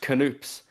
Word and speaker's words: Knoops: a pronunciation guide, and it is pronounced canoops, but it feels so Canoops.